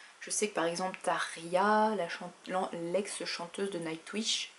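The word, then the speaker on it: Tarja: sais que par exemple Taria la l'ex chanteuse de Nightwish ça s'écrit t a r J a et ça se dit Taria donc là le J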